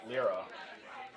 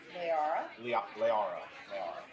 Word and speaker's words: Lyra: Twine and Lyra. I said it wrong, didn't I? Say it again. Leara.